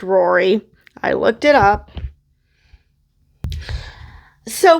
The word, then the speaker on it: Ruaridh: in vision and yes this is pronounced Rory I looked it up